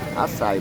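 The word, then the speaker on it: açaí: Alright, now I know the proper pronunciation. Acai bowl.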